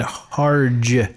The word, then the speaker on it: Harge: Chandler plays her husband har that's an interesting is that have you ever heard of a har they said Harge oh okay and no